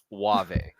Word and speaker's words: Wave: How do you say that name? Wave. Thank you.